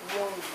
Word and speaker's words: Jung: Eu estou aqui com o Douglas Jung, seria assim a pronúncia do seu nome? Jung.